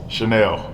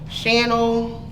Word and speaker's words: Shanell: say your name correctly what is the correct pronunciation of your name chanel okay has it ever been mispronounced yes what have you i knew that one time channel chantelle right um